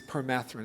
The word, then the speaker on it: permethrin: what is it topical Permethrin actually it's perine it's not a long e it's perine perine should be done twice two